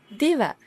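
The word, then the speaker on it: දිව: Yes, tongue is diva, tongue, diva.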